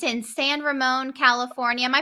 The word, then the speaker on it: San Ramon: such a cool spot and uh it's in San Ramone California am I pronouncing that right yeah you're pronouncing it right